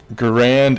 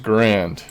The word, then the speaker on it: Garand: Did you know M1 Garand isn't pronounced Grand?